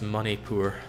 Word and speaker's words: Manipur: of my face though it's pronounced money poor you can't be serious